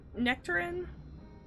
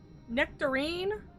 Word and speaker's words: nectarine: favorite fruit I'm sorry did you say nectarin nectarine I'm tired of y'all pronouncing fruit wrong persimmon persimmon nectarin nectarine y'all